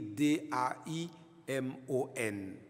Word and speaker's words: daimon: que Socrate g démon écrit d a I m o n alors prononc tout Daon alors est-ce que dit de démoniaque là c'est même bagille les par exemple il dit Socrate avait son Daimon certainement c'est pas même